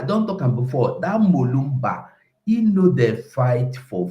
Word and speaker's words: Lumumba: Lumumba or Kolumba, the fight, not just eloquent speaker finish. Is Lumumba. Lumumba, so no be say they short them now because I know sabi pronouncing them.